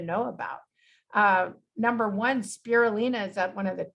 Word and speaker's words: spirulina: fond of and truly cannot live without is spirulina that's how you say it spirulina spirulina is a blue-green algae and it's usually